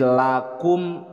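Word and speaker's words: لكم: keenam lakum dinukum waliyadin si lakum bukan qof dibacanya Kaf lakum mim sukun bertemu dengan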